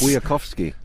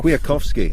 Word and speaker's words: Kwiatkowski: The Polish pronunciation police are going to be out in force. Kwiatkowski. Michał Kwiatkowski, I think, something like that. Something like that. I should know this. Kwiatkowski, I see.